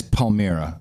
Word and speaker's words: Palmyra: It's Palmyra, so I've written it down now, so I can say it right, because we're going to be talking.